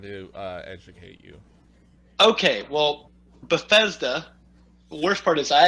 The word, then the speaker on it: Bethesda: Okay, well, Bethesda. The worst part is I actually already knew how to pronounce it.